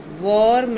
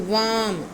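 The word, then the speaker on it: worm: वर्म नहीं, इट इज़ वर्म. वर्म. आर को softly बोलना है और ओ की साउंड अ की है, वर्म.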